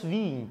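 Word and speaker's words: Wien: o físico alemão pessoal muito ser a pronúncia correta essa nós falamos vim tá em 1894 a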